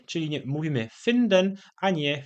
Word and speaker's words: finden: W słowie finden jest krótkie i, które w języku polskim wymawiamy bardziej jako czy w języku niemieckim wymawiamy jako bardziej takie polskie krótkie y, czyli mówimy finden, a nie finden.